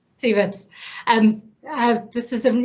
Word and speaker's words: Cieverts: how to pronounce your surname how do i pronounce it stevens stevens and uh this is an interesting um transition